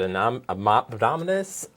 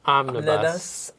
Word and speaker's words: omnibus: because I'm going to say it wrong, but anominus omnibus omnibus.